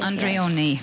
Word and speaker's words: Andreone: Is that the right way to pronounce it? Perfectly, Leah Andreone.